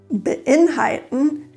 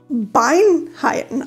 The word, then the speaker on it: beinhalten: Und dieses Verb beinhalten wird nicht Beinhalten ausgesprochen, sondern beinhalten. Auch hier würde man das Wort falsch verstehen, wenn man das Wort falsch trennt, da es ja mit Inhalt zusammenhängt und nicht mit einem Bein.